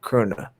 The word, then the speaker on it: Köhne: So everybody go back, look at Köhne. You almost say it like there's a soft R in there. Yeah. That's how you do in the German, Köhne. Mm-hmm.